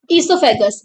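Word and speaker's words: oesophagus: इससोफेगस इन the human body O silent है तो इससोफेगस पढ़ते हैं इसे इन द ह्यूमन बॉडी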